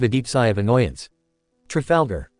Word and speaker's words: Trafalgar: Trafalgar T R A Falgar. It's<unk> not hard to say, Strafoda.